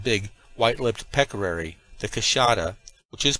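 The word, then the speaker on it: queixada: specimens of the big wh lipped Peary the kashada which is pronounced kashata of the Brazilians which would make our collection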